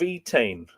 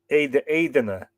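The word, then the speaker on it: Étaín: In the saga of the wooing of Etain, and apparently I've totally butchered that pronunciation. The Middle Irish pronunciation would be more like Eidena than Etain.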